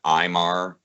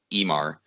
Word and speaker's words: Ivar: script was is that that what we would read as the word imar to them would been pronounced um emar because there's so few